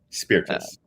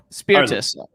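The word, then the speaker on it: Spirtas: how do i correctly spell your uh pronounce your last name you correctly spell my last name spiritus spiritus spiritus okay so i did it pretty close earlier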